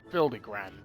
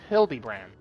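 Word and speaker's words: Hildibrand: Since parting ways, I searched every alley and dive bar in Evere for signs of this Hildy Grand character. It's pronounced Hildybrand.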